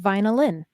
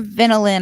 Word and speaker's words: Vynilyn: to say our name we're called vinyl in it's vinyl plus viol I was I was gonna I I was gonna ask you that to make sure because sometimes my pronouncing go way out of the window they go you know they go away wrong as well we hear vinyan all the time it's kind of like